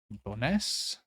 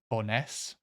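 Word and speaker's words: Bo'ness: But Boness. I think the emphasis, like always, or the stress is always on the second syllable in Scottish places.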